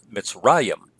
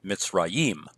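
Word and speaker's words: מצרים: Here it's explicitly marked, so it's on the second to last syllable, so we have Mitzrayim rather than Mitzrayim.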